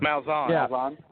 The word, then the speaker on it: Malzahn: Malzahn. Malzahn.